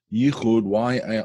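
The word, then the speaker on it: יחוד: Yichud, Y-I-C-H-U-D, I guess you would spell it. In Hebrew, Yud Chet Vav Dalet, Yichud.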